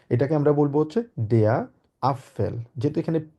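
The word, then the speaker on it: Apfel: আমরা বলবো হচ্ছে দেয়া আপফেল যেহেতু এখানে পি আছে মানে যার মানে আমরা এটাকে বলেছি আ এফ এ এল ওই জন্য আপ হবে প্রথমে প এর মধ্যে উচ্চারণ আবার হবে ফেল যেহেতু এফ আছে দেয়া আপেল সবাই আমার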